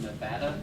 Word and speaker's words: Nevada: You get to go through Nevada, not to be confused with Nevada, Missouri. It's spelled the same, but don't call it anything other than Nevada. They will get mad at you.